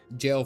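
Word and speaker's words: gaol: first J my memory jail first and then was a samurai to fight them uh for them as a soldier got it got it got it jails pronounced g a o l get on with it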